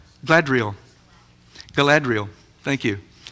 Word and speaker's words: Galadriel: of the Rings the there's the elf queen gadal I don't know if I pronounced if I pronounced her name correctly glad gadriel Galadriel thank you H in the movies it's played